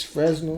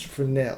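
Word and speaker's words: Fresnel: they say it you you would think it's fresno but it's for now that's what they say and if i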